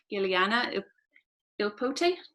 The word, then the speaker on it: Giuliana Ippoliti: And then I'm delighted also to have Giuliana Ippoliti. Did I pronounce that correctly?